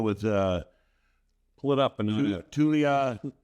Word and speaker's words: Taulia: And how do you pronounce his name? Taulia How do you pronounce your last name?